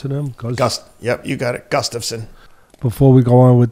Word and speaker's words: Gustafsson: How do we pronounce him? Yep, you got it. Gustafsson.